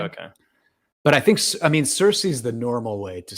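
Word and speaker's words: Circe: Circa? So we can discuss that. So the standard way is Cersei. However, I think the original Greek didn't only had hard K sounds.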